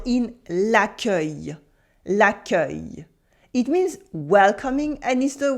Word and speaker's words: l'accueil: L'accueil.